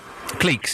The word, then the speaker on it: cliques: Cliques is the word. It's pronounced cliques, yes.